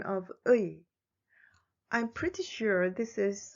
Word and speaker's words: 의: The vowel 의 is also a diphthong, so it is very hard to pronounce. Think of the shout of Taekwondo. 의.